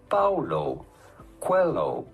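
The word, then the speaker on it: Paulo Coelho: How do you go about pronouncing his name? Paulo. Quelloo.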